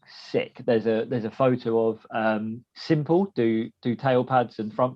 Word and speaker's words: SYMPL: SYMPL. So it's spelt a bit weird. But Simple.